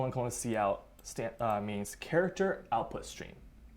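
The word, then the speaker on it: cout: break it down really quick sed : : see out stamp means character output stream it is pronounced see out and what this does is it will take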